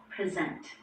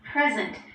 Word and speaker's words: present: In those two words, the stress is on the first syllable, present.